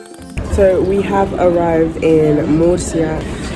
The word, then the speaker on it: Murcia: our way to meria and actually the correct pronunciation is Moria the reason why I'm saying Mercy as you